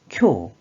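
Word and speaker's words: 教: 이 한자 뜻으로는 오시에르, 오시에르 혹은 오소와르, 오소와르로 발음하고 음으로는 쿄, 쿄라고 길게 발음해줘요.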